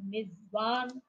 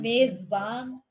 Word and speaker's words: मेजबान: पर चर्चा करते हैं इसका हम दो तीन तरीके से उच्चारण कर सकते हैं ना मिजवान और मेजबान मेजबान मेजबान ऐसा जी तो उसमें देखिए उच्चारण अलग अलग जगह से हो रहा है और सही शब्द जो है वो है मेजबान मेजबान मेजन ये तो मिजवान